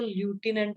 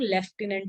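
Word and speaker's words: lieutenant: लेकिन इसमें एफ कहीं भी नहीं है, इसकी स्पेलिंग ये होती है, ये ध्यान रखना है, ठीक है। स्पेलिंग इसकी ल्यूटिनेंट, अगर स्पेलिंग के उस पे पढ़े तो ल्यूटिनेंट लग रहा है, बट इसको हम लेफ्टिनेंट रीड करते हैं।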